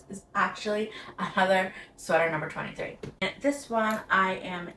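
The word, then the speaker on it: Tage: It's spelled T-A-G-E, but according to their site, it's pronounced 2.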